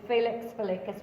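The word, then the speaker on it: Felix Felicis: is Felix the latest I know that's not heists local slugworth sort of way Slughorn pronounces it in the films but the proper lamian is Felix feluccas which literally means luck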